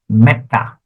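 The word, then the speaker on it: mettā: Now, why is this E short? It should be ma, isn't it? You say long long. You say E is long. But no, when E and O appears before a double consonant, look at the last line here. When they appear before a double consonant, it becomes short. So, it becomes meta. Meta.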